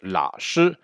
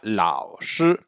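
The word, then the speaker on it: 老师: Attention, il y a un petit O. Certaines personnes n'entendent que le la. Il y a une différence entre la et lao. Et en plus, ça peut poser un problème. Donc attention de ne pas dire juste la shi, mais bien lao shi en insistant sur le A.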